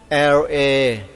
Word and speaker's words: Labrador: ม ไ ว้ อ ย่ า ง นี้ LABRADOR อ่ า น ว่ า Labrador เ พ